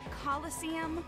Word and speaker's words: Coliseum: no such thing as a killis what it's pronounced Coliseum which is an Amphitheater made in ancient Rome